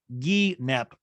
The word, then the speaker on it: guinep: She goes, it's pronounced guinep, Ryan.